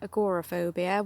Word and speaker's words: agoraphobia: agrophobia or as some pronounce it, agorophobia, whichever you use.